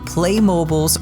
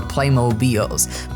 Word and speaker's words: Playmobil: used to play and i think this is pronounced differently based on where you live in the world but play mobiles or playmobils with my brother all